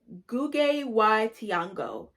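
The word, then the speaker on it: Ngũgĩ wa Thiong'o: to butcher his name i think you say it like gugge y tiango he um is a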